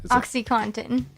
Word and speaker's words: OxyContin: drug companies themselves I know how can not pronounce this it's Oh X Y Co and TI n oxycontin that's the continuous release oxycodone and that one's